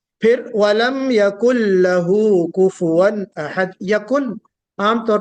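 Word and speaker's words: كفوا: वलम यकुल लहू कुफुवन अहद, कुफवन नहीं, फा के ऊपर सुकून नहीं होगा बल्कि दम्मा होगा।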